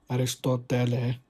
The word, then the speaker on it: Aristotle: Some say Aristotle was actually pronounced as Aristotele. So this is by some experts who in Greek linguistics or something. But let's just call him Aristotle.